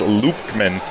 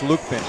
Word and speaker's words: Lubkman: Just so I talked with their coaches, no B, it's Lukman. Lukman. Silent B.